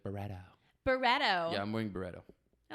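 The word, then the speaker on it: Byredo: Birredo, that's how we pronounce it. But you guys like Barretto.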